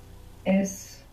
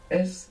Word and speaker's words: es: So you might find slipping out es, but this is incorrect. You should be careful to pronounce an S.